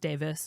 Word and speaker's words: Davies: And then at that point, we see John Davies. I don't know how you, so I know in, like, British names, Davies is sometimes pronounced Davis, depending on where you're from.